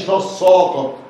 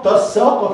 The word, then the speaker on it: تساقط: تصا تصا، لا ما قاليش تصاقط، واللي بيقول تصاقط دي غلط، تسا يبقى السين، وضح وضح ما بين